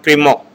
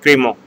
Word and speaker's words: Crémant: And the second term is called Crémant. First term is Mousseux and the second term is called Crémant.